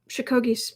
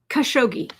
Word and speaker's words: Khashoggi: is jared um complicit and chico in um shikogi's murder shikoki i've just messed that up well it's really mbs he ordered the murder khashoggi khashoggi that's what i was trying to remember